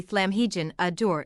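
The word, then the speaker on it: Llamhigion y Dŵr: Water lepers, known as Llamhigion ydwr and pronounced roughly Llamhigion adur in their native Wales.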